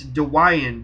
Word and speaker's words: Dwyane: said no we didn't it's Dwayne and she said no it's dwan Dwayne with the Y in front of the a everybody gets that